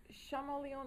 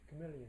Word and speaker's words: chameleon: that uh certain fish reptiles and is it shamon or chameleon I don't even know how to pronounce it chameleon chameleon thank you uh has a third eye